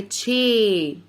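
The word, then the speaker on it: chair: الكرسي، السي اتش مع بعضها لما بيجوا ورا بعض منطقها تش. قول معايا تشير. الاي هنطقها ايه عشان صاحبتها الاي اللي مش هننطقها قاعده بتساعدها. تشير.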